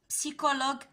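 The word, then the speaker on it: psychologue: اخر مجموعه تكنيك تكنولوجي سيكولوج كونتين. هنايا معلومه خذوها في راسكم، سي اش بارفوا كتنطق ليا حتى هي ك.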